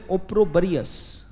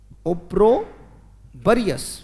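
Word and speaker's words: opprobrious: या फिर इसी के लिए एक वर्ड आएगा बेटा, बोले ओप्रोबरियस, बोलो शाबाश, ओप्रोबरियस, वेरी गुड, बहुत अच्छे, ओ पी पी आर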